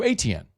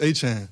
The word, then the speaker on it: Etienne: Growing up, it's Travis Etienne, so it'd be like Achane, and that's how you always said Travis Etienne.